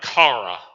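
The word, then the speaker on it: χαρά: The Greek is something like this, but if we transliterate, it would be like kara with the hard C.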